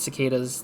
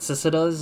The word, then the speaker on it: cicadas: for that long I've I recently had knew how to pronounce it cicadas because I've I heard it from a show or something but then I keep thinking like previous to that I keep calling it cisadas I'm just like what is this or because kikatas I don't know I don't think that's how you pronounce cicadas but yeah uh yeah